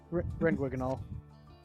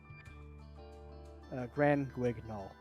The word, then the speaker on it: Grand Guignol: How do you say that name? Grand Guignol. Grand Guignol. So you're saying it pretty much correctly.